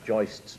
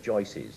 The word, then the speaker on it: joists: I love the way you said you actually pronounce joists properly, because good builders always say joices.